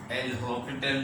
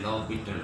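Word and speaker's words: L'Hôpital: तो ये एल हॉपिटल rule, लेकिन कहलाता है, ये प्रोनाउंस ये होता है लॉपिटल रूल।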